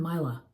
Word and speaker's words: Myla: I'm Myla. Myla with a long I sound, okay?